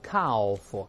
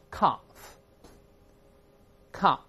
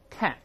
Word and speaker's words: calf: L 不发音的不要读 calf，不是这样的 L 不发音的。那么第一个在英式翻译法啊，大声里面 calf，再读美音把 R 变成